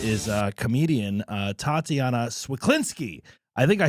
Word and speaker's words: Cwiklinski: Uh, our guest is, uh, comedian, uh, Tatiana Swaklinsky.